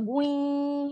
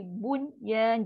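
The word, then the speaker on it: بنيان: Tapi bunyi tu jangan bui, bui tak ada. Dui salah. Bui salah. Mesti bunyan jelas.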